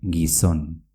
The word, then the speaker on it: gizon: Se dice gizon, con una Z. Gizon.